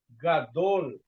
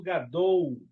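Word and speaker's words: גדול: Gadol e não gadou. Tá. Muito cuidado com lamet.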